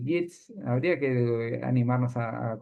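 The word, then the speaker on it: Yeats: Así que sí, en realidad hay y Jits, habría que animarnos a a conocerlo a Yits, que es eh es como ese poeta fin de siglo XIX, principio del X.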